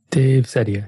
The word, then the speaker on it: Dave Ceddia: Dave Ceddia. Yeah, that's right. You had to pronounce it yourself as well.